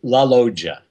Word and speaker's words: La Loggia: it's it's a swell la loggia mojo okay the 2 g's are kind of like a J oh my god okay